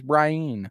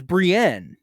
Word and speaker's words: Brienne: read it and go this name is Brien I guess maybe that's just English you know that's just technically you could like if you wanted to you could make it sound like that cuz it's spelled that way but no I mean like you obviously can I get where he's coming from but the name's Brienne yeah I mean the